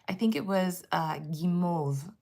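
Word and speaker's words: guimauve: Um, and they were learning de bomb for candy and also I think it was uh gimmov gim I think is how you say basically these sort of peeps in French.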